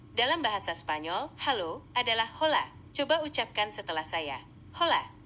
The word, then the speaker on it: hola: Dalam bahasa Spanyol, halo adalah hola. Coba ucapkan setelah saya. Hola. Hola. Hampir sempurna. Pengucapan hola dalam bahasa Spanyol memang mirip dengan ola, tapi huruf H aksen di depannya tidak dibaca. Jadi cukup ucapkan Ola.